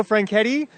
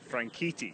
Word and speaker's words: Franchitti: I'm here with Dario franki racing Legend Dario franki we got to work on your pronunciation there Sean oh I'm sorry frankii frankii I'm sorry you know Americans are